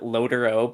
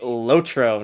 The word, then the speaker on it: LOTRO: saying it wrong it's supposed to be lotro not loadero that sounds stupid and